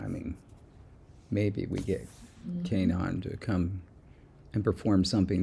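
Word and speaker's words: K'naan: Kanan. It's pronounced Kanan. No, wait. Kanan. Kanan. Oh, so the K, it's like the letter K.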